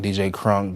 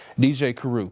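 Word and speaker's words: Kruk: something that'll stick and people to this day still pronounce it wrong. DJ Krunk, DJ Kuruk, you know, and I mean that's that's close, you know, that's being picky on my end, but DJ Karu, K R U K.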